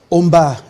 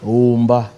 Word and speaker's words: Omba: Omba. Alors il y a la voyelle O initiale qui est en prolongation, qui se prononce de manière intégrale comme en latin.